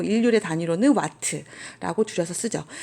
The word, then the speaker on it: 와트: 것 기억나요 그렇죠 대문자 w 루스 9 이 와트 라고 읽어요 2와트 라고 하는 것은 1초 단 몇